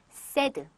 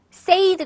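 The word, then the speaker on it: said: 과거 분쟁을 새드 줘 세드 세이드 가 아니에요 근데 많은 분들이 세이드 아니에요 여러분 세드 쎄이 3 득세 드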